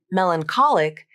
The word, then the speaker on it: melancholic: things to notice here first notice how the CH spelling makes the k sound not the CH sound and second notice how the syllable stress changes between the two words in Melancholy the primary stress is on the first syllable but in melancholic the primary stress shifts to the third syllable which is the syllable before the IC suffix I'll say each